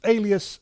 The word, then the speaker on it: Aeleus: It's spelled Aeleus.